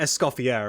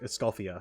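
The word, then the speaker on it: Escoffier: Um, it's not Escopier like you don't pronounce the R. It's like Escalia or something like that.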